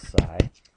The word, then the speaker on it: psi: And this symbol here, the Greek letter, I think it's psi, is how it's pronounced.